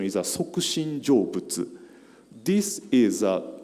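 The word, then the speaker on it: 即身成仏: Japanese pronunciation is a Sokushin Jobutsu.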